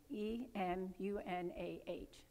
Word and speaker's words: emunah: The word for faith is emunah, E-M-U-N-A-H.